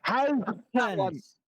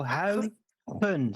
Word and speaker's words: Huygens: Huygens. That's how you pronounce it. Good luck. Go ahead, Brian. I just Say that again. Oh, fuck. Huygens.